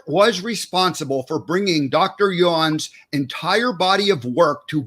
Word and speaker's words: Yuen: Is that correct? Yuen? There's 2 pronunciations. My last name's? It's Irish, yeah. But it's the Yuen, Dr. Yuen.